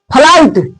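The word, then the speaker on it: flight: उसके बाद जी एच टी आए अगर कोई मीनिंग में तो जी एच साइलेंट होता है। यानी जी एच क्या होता है? लुप्त हो जाता है। उसका आवाज नहीं होता है।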